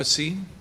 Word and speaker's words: Anthropocene: Anthropocene?